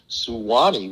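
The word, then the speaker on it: Suwanee: about that he goes there's suwani which is s-u-w-a-n-e-e but he goes that's three syllables so he just shortened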